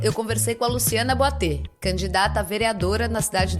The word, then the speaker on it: Boiteux: da pauta canábica, e o meu sobrenome pronuncia Boatê, que é de origem francesa, distante, mas aí a pronúncia abre o início.